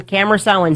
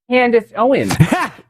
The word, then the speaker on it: Candace Owens: Always got to be Tucker Carlson, camera Owens. It's Candace Owens.